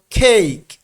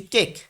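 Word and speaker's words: cake: যেমন খেইক, হ্যাঁ এখানে উচ্চারণটা হবে কি, আমি এখানে বাংলা উচ্চারণ লিখে দিয়েছি খেইক। তাহলে দেখেন আমরা আগে কিন্তু পড়েছি কেক, কেক কেক, হ্যাঁ এইভাবে বাংলাদেশে বলা হয়, সবাই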